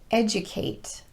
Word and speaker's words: educate: video but there are a number of words where the letter d will be pronounced as j and some of them